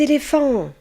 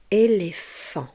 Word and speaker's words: éléphant: Regardez bien l'orthographe du mot éléphant. Ici, le son F est formé par la lettre P et H. P et H va former le son F. éléphant.